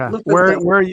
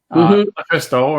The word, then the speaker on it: LuFisto: All right, and LuFisto, am I pronouncing that correctly? Is it? Yes. LuFisto? Okay. LuFisto.